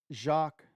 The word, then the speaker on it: Jacques: says it's working now it's pronounced Jacques oh Jacques Jacques not jock Patrick is that what